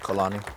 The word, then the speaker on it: Kalani: man how do you say your last name colani everything about this guy is a real man